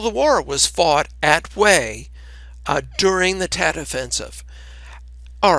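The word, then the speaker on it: Hue: the ancient capital of way spelled h ue but pronounced way to the major city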